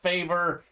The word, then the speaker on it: Favre: named after brett favre on draft day they pronounce his name as brett favor uh there's a brett